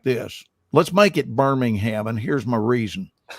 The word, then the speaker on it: Birmingham: you fly him to the other birmingham which is pronounced birmingham birmingham and he's raised in england